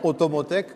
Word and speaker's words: Automotech: ce cluster alors automotec c'est ça se prononce de la même manière d'ailleurs en français en ocitan et et en anglais très bien automoteec comme automobile mobilité et technologie c'est la représentation de